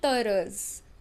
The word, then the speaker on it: heureuses: So elles sont heureuses. Elles sont heureuses. Again I am using the rule of liaison since H is silent in French. Mute H we call it.